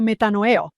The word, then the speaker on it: metanoeo: El presidente Nelson lo llama metanoeo. ¿Lo estoy pronunciando correctamente?